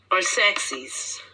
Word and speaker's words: Arsaces: Is that Arceus? We want to make sure we pronounce it right as much as we can. Arsaces.